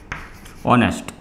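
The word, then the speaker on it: honest: honourable prime minister, right, तो ये silent H मतलब ये स्टार्ट होता है एच से लेकिन इसका प्रोनाउंसिएशन क्या होता है ऑनेस्ट, राइट, इधर भी होगा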